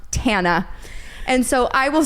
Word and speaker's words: Tana: If you know that tidbit of information, then you know that it is pronounced Tana.